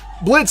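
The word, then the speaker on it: Blitzø: hi there I'm Blitz the O is silent and I'm the founder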